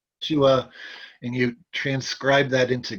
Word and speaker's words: Yeshua: which is Yeshua, uh, so the name of God in Hebrew, which is Yahweh, is spelled Yod He Vav He, Yes.